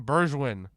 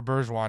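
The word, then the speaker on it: Bergwijn: this something moussa sissoko steven bergeron or bergejon i think is how you say it like this is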